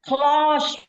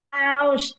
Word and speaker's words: clause: You pronounce it close bukan cluse.